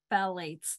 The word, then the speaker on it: phthalates: I was horrified to find out a lot of enteric coating contains phthalates. That's not how you say that word. Phthalates. I know what it is. I'm having a hard time pronouncing that word.